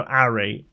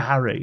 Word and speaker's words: Ari: He's like, yeah, Harry. He's like, no, Ari, A-R-I. Because he's from London, so like somebody from London would say Ari. All right, Ari. You know, they wouldn't pronounce the H anyway.